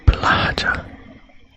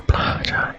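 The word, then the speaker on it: Blåhaj: Live, love, Blahaj. Ah, that's how you say it. Okay, Blahaj. I was pronouncing it so silly.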